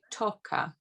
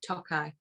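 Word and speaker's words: Tokaji: Is it Toka cask? Oh, Tokai. No, Tokai. There you go.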